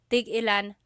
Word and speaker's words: tigilan: When there's no hyphen, tigilan, tigilan.